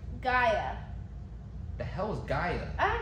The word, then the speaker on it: Gaia: not Dino it's not Gale how do you spell it so you say Aya like a i a so g-a-i-a g i g i g g a g